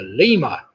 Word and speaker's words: lemur: that primate ours after was the Lemur which of course rhymes with the femur alright number six known